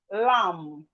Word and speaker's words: lamb: Then we have lamb. Lamb. The B in lamb is silent.